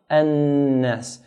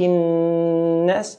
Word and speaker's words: النَّاسِ: Again, hold the noon. مَلِكِ النَّاسِ. Hold, then let go.